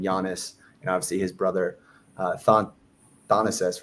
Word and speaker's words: Thanasis: was obviously highlighting Giannis and obviously his brother Thanasis, right? That's how you pronounce it. Thanasis, yeah.